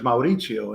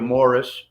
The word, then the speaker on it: Mauricio: flag in school because they didn't know how to pronounce it they would call you morris and maurice and then you know